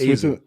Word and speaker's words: AXO: Yeah, Ezo, it's same, but it's pronounced as Ezo. It's written AXO. Yeah, but it's pronounced as Ezo.